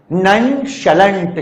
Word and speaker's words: nonchalant: ननशलेंट, the pronunciation is ननशलेंट। श कौन सा? श शक्कर वाला।